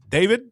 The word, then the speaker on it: D4vd: Bubba, your guy, D4VD, David, Not my artist, guy.